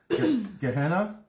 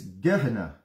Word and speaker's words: Gehenna: so there are your four words you got gahenna which we mispronounced if you want to know how it's pronounced it's gedna and we got hades and uh that's hades